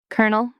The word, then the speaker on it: colonel: Kernel. This one is wild. It looks like it should be kol-oh-nel, but it's actually pronounced kernel, like a popcorn kernel.